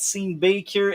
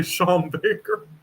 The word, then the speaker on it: Sean Baker: I don't know why you pronounced it scene Baker. You can just say Shawn Baker. Oh. Oh, Son Baker. Oh, that's Son Baker. Okay. I I thought it was S Baker. S E an is like pronounced in English the same as S h a w.